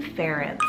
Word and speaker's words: Ference: Reminds me of the name Terence, but a little bit more unique and a little bit of cool history and meaning.